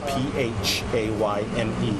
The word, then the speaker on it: Phayme: Last name is spelled P-H-A-Y-M-E, pronounced Phayme.